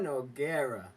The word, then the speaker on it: Noguera: like a one yaago noguera yago no guerra they're like if you say no getta it it'd be like no geta g-e-t-t-e-a it would be the same okay right now he's